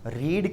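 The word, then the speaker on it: read: A novel is being, verb की third form रीड की third form, रीड, रेड, रेड। बोलने में रेड रेड आता है लेकिन स्पेलिंग सेम रहती है।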